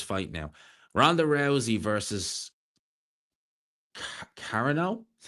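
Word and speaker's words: Carano: Ronda Rousey versus Cararano is how you say her name.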